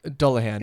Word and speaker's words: Dullahan: I don't think I pronounced the second one right. Dullahan.